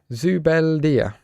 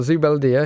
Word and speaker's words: Zubeldia: Zubeldia. That's how I think you pronounce it. So we've got Zubeldia, who's currently a -1 because obviously he's out of position.